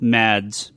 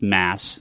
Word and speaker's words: Mads: much this week um I always call them Mads but it's pronounced masse I should do you so that are ma